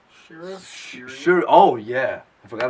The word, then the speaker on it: Shuri: It's Suri? Shira? Sure. Oh yeah, I forgot about her. Yeah, Shuri.